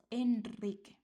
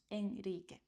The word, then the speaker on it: Enrique: So those keywords are Israel, al alrededor, and Enrique. So this is after S, after L, and after N. After these consonants, you write only one R, but this is pronounced like a strong one. Israel, not Israel. Alrededor, not alrededor. And Enrique, not Enrique.